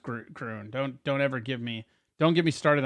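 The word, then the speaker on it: Gruene: Yeah, well, it's actually pronounced Groon.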